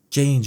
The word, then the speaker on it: Jeyne: Jane. Jane. It rhymes with pain.